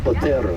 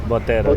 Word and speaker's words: Botero: Did I say it right? Botero. Botero, yeah. Botero. You gotta roll that R.